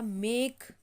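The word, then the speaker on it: make: एक हो गया हमारा मेक, ठीक है, मेक, मेक, ठीक है, तो इसमें भी साइलेंट है।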